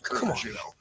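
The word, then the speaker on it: Coors: That's how they say Kurz. That's how you say it in Texas.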